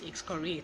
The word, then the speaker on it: excoriate: criticisms that you are excavating that person it's pronounced X curry excoriate exfoliate is our word of the day and